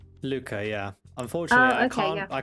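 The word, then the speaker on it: Lucca: is um uh Lucia or Luca, however it's pronounced. Um Luca. Luca.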